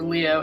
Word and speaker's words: Lio: If you want to see some of the fan art, I suggest you go scroll on Pinterest for him, for Leo. It's spelled L-I-O.